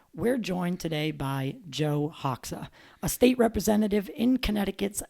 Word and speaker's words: Hoxha: Let's welcome Joe Hoxha.